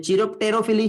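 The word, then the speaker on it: chiropterophily: कहते हैं, ठीक है, कायरोप्टेरोफिली या चिरोप्टेरोफिली, जो आपको अच्छा लगता है वो प्रोनाउंस कर सकते हो, ठीक है, समझ में आ गया।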